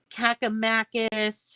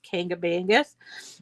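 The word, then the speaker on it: Kancamagus: me about it, and they were trying to say Cakamakis, and because that's how it's spelled, it's Kangamangas.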